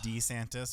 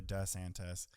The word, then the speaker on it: DeSantis: Governor can't decide how to pronounce his name if it's D santis or DeSantis it depends his target